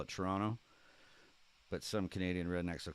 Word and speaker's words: Toronto: Most Canadians don't pronounce the T. We call it Toronto, but some Canadian rednecks will call it Toronto.